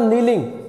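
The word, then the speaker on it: kneeling: उसके बाद नीलिंग, घुटनों के बल झुकना। नीलिंग का मतलब घुटनों के बल, यहाँ पे हम करेंगे नीलिंग के, नीलिंग घुटनों के बल झुकना। इसमें के साइलेंट होता है बेटा उसमें।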